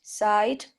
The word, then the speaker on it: sigh: Pronounce I as in night, sight, psyched, flight, high, night. Oh, the second one? Sight. No. No? There is no T. Side. Oh. Sight? Sigh. It's Sigh. only I.